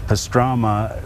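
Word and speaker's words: pastramă: they uh uh pastrama they call it pastrama okay and then when it came to the united states the the italians they got a hold of it i think and uh made it rhyme with salami salami what are you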